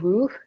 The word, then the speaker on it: rooh: It's called ruh, like ROH, and it means soul.